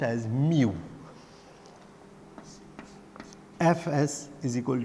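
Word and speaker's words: mu: यहाँ पे जो कांस्टेंट है वो ग्रीक सिंबल कुछ ये है, which is pronounced as म्यू।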